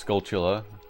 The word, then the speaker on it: Skulltula: Hey, Pixie says it's Skulltula, so that must be the right way to say it.